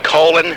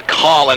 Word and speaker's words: Colin: You've heard it, the bowel thing, colon, not real attractive. And the sort of phone thing, you know, the callin', it's become a matter of you say colon, I'll say Colin.